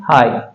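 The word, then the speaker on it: high: और हम बोलेंगे इसको हाई एच आई जी एच यहां पे जी एच क्या है वो साइलेंट है ठीक है हाई इसका उच्चारण होता है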